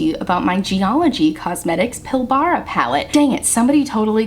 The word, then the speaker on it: Pilbara: to talk to you about my geology cosmetics pilbara palette dang it somebody totally commented on the